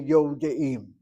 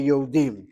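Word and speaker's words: יודעים: But I would say Yodeim. That's how I speak. I recognize when my pen not writing anymore, a long vowel and a shva under a letter that follows a long vowel is a shvana. Most Israelis are as baffling as can be when they say Yodim.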